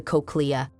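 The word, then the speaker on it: cochlea: cordi present inside the coccia. Moving to next mimmonic. Coccia is the snail-shaped part of the ear. The part of this word rhymes with coke.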